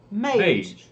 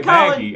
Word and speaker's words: Mage: He said, I'm a guy pronounced like Page or Sage. Mage. I'd never seen that before. Okay. Yeah. I was going to say Maggie.